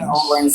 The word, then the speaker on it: New Orleans: Yeah, it's like one word. New Orleans. Yeah. Some people say New Or how you say it. Yeah. And I can't I have trouble pronouncing it that way because I always said New Orleans. Uhhuh. It's all one word.